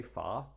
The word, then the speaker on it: Farr: I was trying to pronounce it more or less New Zealand way, Farr.